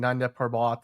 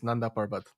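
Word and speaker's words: Nanda Parbat: I mean I also hate the fact that they the Arrowverse kept saying nandbot. Like I'm like that's not how you say it. It's Nanderbot.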